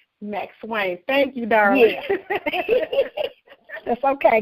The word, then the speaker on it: McSwain: a sister feature slash author showcase with mcclain i'm if i'm saying your name wrong please correct me this uh it's max wayne max wayne thank you darling that's okay girl so i